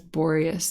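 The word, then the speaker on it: Boreas: are visiting Boris I said his name is borius in the last chapter but I think it's actually just supposed to be said like Boris but who knows there's so many names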